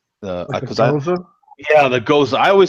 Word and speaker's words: Gose: there was such a debate of how to pronounce it, and it turns out both beers do. It's Goes or Goza.